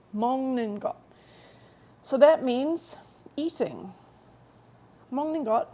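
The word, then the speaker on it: 먹는 것: we have mongot and be careful it's not pronounced mock ninot it's mongot so that means eating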